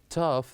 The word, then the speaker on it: tough: lots of fun and here we have the word enough laugh tough that ends with GH they pronounced as the F sound and after this too